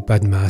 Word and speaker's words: Padma: Ha Hum Vajra Guru Padma Siddhi Hum. Que les Tibétains prononcent Om Ha Hum Benza Guru Pema Siddhi Hum. Je considère ce mantra comme